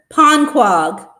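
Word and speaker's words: Ponquogue: How do you pronounce that? Um, that was a panag. Panquag.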